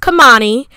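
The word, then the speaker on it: Kemoni: i was like kamani so it's going to be pronounced kamani is going to be spelled k-e-m-o-n-i i might have it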